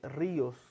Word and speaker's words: ríos: se encuentra acentuada, como en el caso de ríos, ¿no? Que como dice ahí en la pantalla es ri, y ahí se divide os.